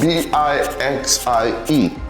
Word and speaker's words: Bixie: It's spelled B-I-X-I-E, Bixie.